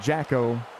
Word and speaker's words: Jacko: We have an argument in the chat about whether it's Jakku or Jacko, and I can tell you I've been saying Jacko or Jakku for the last 3 years, and he did say that Jacko was the pronunciation he wanted.